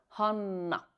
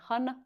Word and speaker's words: Hanna: Entonces, pues mi nombre se escribe con doble N, Hanna, no se pronuncia Hanna. En finés esa doble N es una N muy larga, Hanna. Aunque pues es muy común que aquí en México me digan Hanna con una N más corta, no pasa nada, aunque